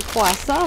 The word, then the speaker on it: кроасан: Puis j'ai aussi acheté un croissant parce que bientôt, j'aurai pas les bons croissants et les bons rouleaux au raisin de Dobrev. C'est des croissants au beurre. Et le mot en bulgare pour croissant, c'est croissant, mais j'ai demandé Edin croissant parce